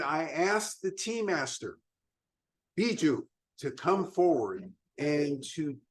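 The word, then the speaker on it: Bijou: My name is Biju, B-I-J-O-U. I can spell it.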